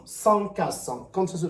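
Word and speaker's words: SONCAS: y a S o n C A S sans qu'à 100 comme ça se prononce c'est la sécurité la sécurité qui brille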